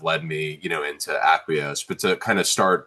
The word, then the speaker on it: AcquiOS: It's Aquos.